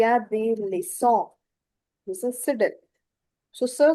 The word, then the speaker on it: leçon: Il y a des leçons.